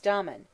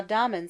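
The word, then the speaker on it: Damon: most writers state was Domon whose name they say should be pronounced with the first syllable short but Aristotle says he had a thorough musical training at the hands of pithy ladies now Domon seems to have been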